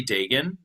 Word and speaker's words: Dagan: Dagan? Well, here in Canada, it's Dagan, but Dagan. you know what? It's kind of different anywhere.